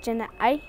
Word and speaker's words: ya'íí: Apache language, and the way how I'm saying it is jana'ai.